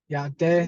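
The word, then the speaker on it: Yá'át'ééh: Yate.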